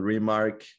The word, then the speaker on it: RMRK: It's called RMRK. Let me know if I'm pronouncing it well.